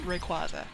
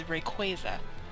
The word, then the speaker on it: Rayquaza: In the movie, pretty sure Ash says Rayquaza. Or, I think. But then the Pokedex itself says Rayquaza. I mean, no. It says Rayquaza. Excuse me. As in Quasar, as in, I think